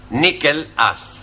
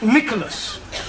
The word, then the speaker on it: Nicholas: upon a time there was a man called nickel us once upon a time there was a woman called nickel it's pronounced Nicholas alright once upon a time there was a